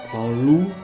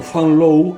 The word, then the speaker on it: Van Loo: Fanlu o Fanlow en pronunciación irlandesa, nació en Tolón, en